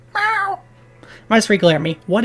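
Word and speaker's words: Visser: I think it's pronounced Visor, not Visor.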